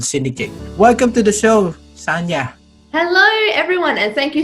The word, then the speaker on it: Sanja: welcome to the show sanya hello everyone and thank you so much for trying i know it's a complicated name but you did well it is pronounced correctly sanya all right thank you